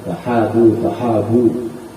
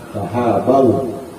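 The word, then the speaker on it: تحابوا: Orang rata-rata banyak bacanya tahabu, ya. Yang benar bacanya tahadu tahabau, maka ya, kalian akan saling mencintai.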